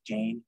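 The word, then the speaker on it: じゃ: know it's right together it looks like Jane but it's ja yeah um and then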